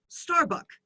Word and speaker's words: Starbucks: In Thailand, this restaurant or this cafe, coffee shop is Starbucks. Of course, we're not pronouncing that final consonant S.